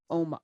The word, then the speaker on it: Uoma: yes means beautiful it's it's spelled oma i added the you into it um because um beautiful people